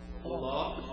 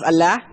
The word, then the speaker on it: Allah: You got to make it more thicker.